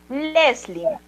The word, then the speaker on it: Leslie: En este caso, como acá bien dice, si bien termina en consonante, Leslie, el nombre, al ser pronunciada, suena como si terminara en la vocal I. Por tal razón, sería Leslie.